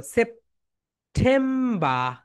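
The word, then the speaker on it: September: এটাকে আমরা বলি সেপ্টেম্বর না, এটা রাইট প্রোনাউন্সিয়েশন কি দেখো, সেপ। সবাই বলো সেপ্টেম্বা। সবাই বলো my dear students, British sound কি বলো তো? ব্রিটিশ সাউন্ড হচ্ছে সেপ্টেম্বা, অ্যান্ড আমেরিকান সাউন্ড হচ্ছে সেপ্টেম্বার, বর।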